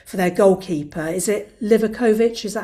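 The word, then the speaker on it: Livaković: Is it Livakovic? Is that how you pronounce his name? Yeah, Livakovic, yeah.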